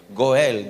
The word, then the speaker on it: goel: hay una palabra hebrea que se pronuncia con él goel diga conmigo con el como decir gol pero le metió una